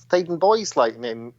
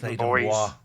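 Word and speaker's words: Theydon Bois: My first PGC placement was in a school in Thaden Boys, I love Essex, the name Thaden Boys. I used to pronounce it Thaden Bois.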